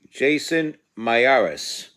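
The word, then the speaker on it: Jason Miyares: Jason Mieres. That's exactly how I pronounce it.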